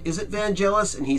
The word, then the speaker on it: Vangelis: entire thing is vangelis now there's a commonly mispronounced name in music the I become bangle s or vangelis but it's vangelis the reason that I know that is because